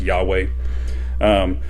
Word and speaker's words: Yahweh: it the y uh yhwh that we that we popularly uh pronounce yahweh so if you don't